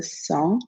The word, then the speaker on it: sent: It's je me sens, tu te sens, il se sent. The T is silent.